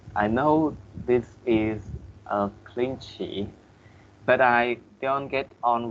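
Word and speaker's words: cliché: I just wanted to correct your pronunciation with the first word in here. Okay, you have to say cliche.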